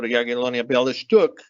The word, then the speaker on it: Jagiellonia Białystok: team, Armenian national team center back, played for Jagiellonia Białystok, that's how you pronounce it, and in Poland, and that's clearly the link.